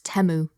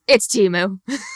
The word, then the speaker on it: Temu: Super Bowl ads tried to tell us it's Temu, but I think we're all going to call it's Temu.